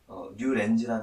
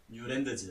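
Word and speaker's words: Newlands: 해봤었고, 그 후에 이제, 뉴렌즈라는 사람이, 신대륙이죠, 뉴렌즈. 그러네. 네. 처음 듣는다. 뉴렌즈라는 사람이 이제, 뉴렌즈라고 하는데, 이름을 뉴렌즈. 뉴랜드즈. 네, 뉴렌즈인데. 뉴랜드즈구나. 네, 근데 뉴렌즈라고 해요, 그냥 뉴렌즈. 발음할 때는.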